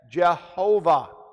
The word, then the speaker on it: Jehovah: So the translators of the first English Bible placed the vowel sounds of Adonai between the German equivalent consonants of God's name, and those German equivalent are J-H-V-H. And that's how they got the pronunciation of the name as Jehovah.